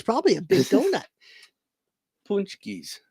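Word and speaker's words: pączki: Punchkis, it's pronounced.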